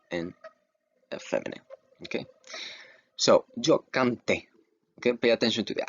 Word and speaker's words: canté: Remember, every time you see an accent, that little slash over the vowels, you pronounce that vowel harder than the other letters, okay? You emphasize it.